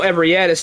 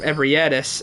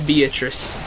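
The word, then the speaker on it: Ebrietas: Bro, I have seen some absolutely awful pronunciations of Ebrietis. I saw one guy in a YouTube short call her Beatrice. I was like, what in the world? How do you get a Beatrice out of that?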